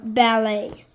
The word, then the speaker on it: ballet: No, ballet. Ballet. The T is silent. Oh, ballet.